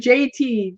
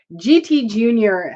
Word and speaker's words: GT Junior: wrong was like oh I kept saying JT JT uh but everybody corrected me so yeah there's GT Junior and you know I